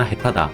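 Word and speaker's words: 下手: 이제 조즈다라거나 해타다 라고 하는 거를 보면은 조즈라고 읽히면은 솜씨가 좋다, 실력이 좋다, 스킬이 좋다 이런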